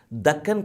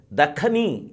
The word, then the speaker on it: Dakhan: That is why Dakhani is a word. It is not Deccan, it is Dakhani. Many people pronounce it as Deccan, Deccan. It is not Deccan, it is Dakhan.